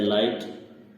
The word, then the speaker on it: light: इसी प्रकार अगला शब्द है लाइट। लाइट लिखा जाता है LIGHT। लाइट मीन्स होता है रोशनी, लेकिन इसमें GH का उच्चारण नहीं बोला जाता है।